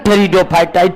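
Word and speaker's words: Pteridophyta: ब्रायोफाइटा ही है और टेरिडोफाइटा टेरिडोफाइटा में पी साइलेंट रहता है तो क्रिप्टो गेम को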